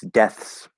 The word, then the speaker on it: deaths: It wouldn't sound exactly the same, but if we were to pronounce deaths properly, obviously there would be a TH and then an S.